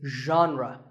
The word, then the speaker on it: genre: The correct pronunciation is genre. Pay attention to the first sound. It's like sh, but you have to put your voice into it. Genre, genre.